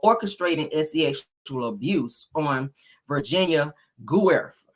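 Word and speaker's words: Giuffre: sexual abuse on Virginia Guerf. That's how you say her name.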